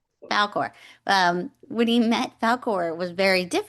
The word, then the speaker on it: Falkor: I kept calling him folklore this whole time cuz I couldn't help myself. My husband was like, "You're going to say it wrong in the thing." And I was like, "Falkore, Falkore, Falkore."